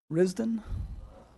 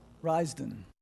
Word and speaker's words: Risden: Next is, and I may be pronouncing this incorrectly, Risden? Risden.